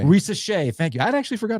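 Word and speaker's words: Risacher: How do you pronounce that guy's name? Risa Shea. Risa Shea.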